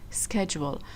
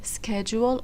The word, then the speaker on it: schedule: It is okay to pronounce it as schedule or scheduled. It's okay, just different way of pronouncing the word. So if you hear people saying schedule, that's okay, that's correct. And if you hear them saying schedule, it's also correct. Both of them can be used, alright?